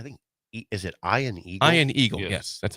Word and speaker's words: Ian Eagle: Warner and I think is it Ian Eagle Ian Eagle yes that's how you say it and then